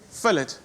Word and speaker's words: fillet: We're using fillet. So fillet, very fancy. So you pronounce the T, fillet. You know fillet. What? It depends. It depends. Okay. Fillet or fillet, it depends. At the restaurant, it's fillet.